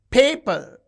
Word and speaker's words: paper: Paper. You can see the first syllable is stressed.